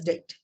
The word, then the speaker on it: debt: b t that is depth but when we pronounce it it is known as debt right so if I'm not ready to you